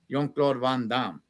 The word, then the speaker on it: Jean-Claude Van Damme: Jean-Claude Van Damme, or how they say it, because I talked to a guy from Belgium, how they pronounce it. Jean-Claude Van Damme. Oh, it's yawn. Okay, all Oh.